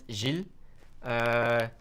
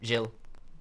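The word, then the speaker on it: Gilles: g-i-l-e-s uh and actually it's pronounced jill like the french part the french do it pronounce it um yeah like jill my name is jill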